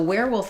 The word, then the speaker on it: werewolf: Yeah, so werewolf is kind of interesting because it has the spelling of the word were, but the sounds of the word where.